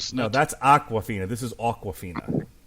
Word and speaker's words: Awkwafina: that's Aquafina this is awkwafina it's pronounced the same way but it's spelled differently yeah like a like